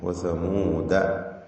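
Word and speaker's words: وثمودا: അവിടെ വസമൂദ എന്നതിന് ശേഷമുള്ള അലിഫ് ഉച്ചാരണത്തിൽ ഇല്ല എന്ന സൂചനയാണ് അലിഫിന് മുകളിൽ ഒരു വൃത്താകൃതിയിലുള്ള ചിഹ്നം നൽകിയത്. ശേഷം വഖദ് തബയ്യന, വഖദ് തബയ്യന.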